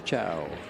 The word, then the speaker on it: Chou: she will be breaking Rita chow cho excuse me it's pronounced both ways but they she prefers it to be choke as I was told by her interpreters that travels with her I think she was